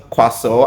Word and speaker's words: croissant: So it is strange to think that you have a lot of letters there that are just useless. So the word is pronounced quaso and is a next on my list is this.